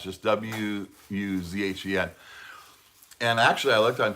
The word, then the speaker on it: Wuzhen: I don't know how to pronounce it. Zen. Z-H-E-N. Wuzhen.